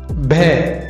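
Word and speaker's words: بھ: ഭേ. ഭ എന്നുച്ചാരണം. നമ്മൾ പഠിച്ച ഭേയും ദോ ചശ്മി ഹേയും ചേർന്ന് ഭേ, ഭ എന്നാണ് ഉച്ചരിക്കുന്നത്.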